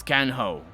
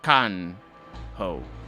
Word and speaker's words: can ho: an easy one it's can ho you already heard me say that one when we met be careful a in can is pronounced like a in cargo which is can ho he's not is also